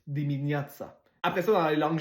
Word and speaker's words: dimineața: Le T avec une genre de cédille en dessous, c'est comme TS, dimineața.